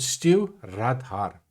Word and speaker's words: Stiuireadair: that steers a boat it's called stew radhar so actually quite easy to pronounce but of course when